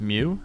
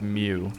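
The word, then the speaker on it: Miu: There's a cat person named, I think it's pronounced Mew, M-I-U. Look at him. Look at Spike. God, he rules. I think it's pronounced Mew.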